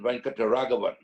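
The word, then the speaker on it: Venkataraghavan: I mean, there was another spinner called Srinivasan Venkataragavan. If you can't pronounce that, just try saying rent a caravan. You won't go far wrong.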